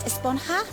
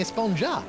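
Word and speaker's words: Esponja: thing has been about huh yeah actually it's pronounced espona with an H sound at the end really but we've all been saying a spon yes I know it's been bothering me this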